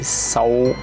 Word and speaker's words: Samhain: L'origine de Halloween remonte à une fête celtique appelée Samhain, prononcée Samhain.